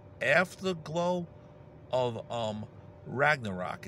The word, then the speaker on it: Ragnarok: new solo song called after the glow of Ragnarok this is the rock and roll weather man